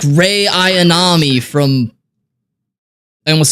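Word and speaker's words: Rei: national anthem is pronounced Ray I am not in detain all right sorry about that Reay like Ray aonami from I almost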